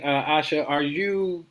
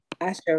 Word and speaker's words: Asha: I would like to know, what made you decide, Asha, right? That's how you pronounce mm-hmm. it? Asha.